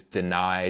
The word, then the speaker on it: Danai: So, my name is Deny.